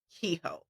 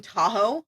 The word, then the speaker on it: Kehoe: This is the one where Emily was like, his name Tahoe, and I was like, no, it's Kehoe. Today we're discussing differently. Yeah. Well, it's almost spelled like Tahoe. It's Kehoe.